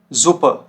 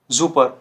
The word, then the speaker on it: Super: अब ये क्या साउंड करेगा, देखिए तो ये साउंड करता है आपका, जो देखिए जी, जैसे हमारा वर्ड होता है जीब्रा, ठीक हो गया, जीब्रा। जैसे zum Beispiel Samstag, Samstag, Sohn, Sohn, Super, Super।